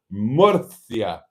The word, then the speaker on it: Murcia: The C is pronounced th in most Spanish-speaking countries. See, I got it right. Murcia.